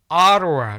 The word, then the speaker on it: Ottawa: 자, 여기서 Ottawa, 자, 오타와라고 읽지 않습니다. 물론 오타와가 발음 기호인데요.